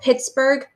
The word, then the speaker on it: Pittsburgh: steel mill town called Pittsburgh Pennsylvania hey I see a GH that's silent where his new team